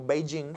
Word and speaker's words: Beijing: Entonces la palabra Beijing, lo que nosotros vemos como Beijing, en realidad se pronuncia Beijing. La primera parte sube, la segunda parte baja.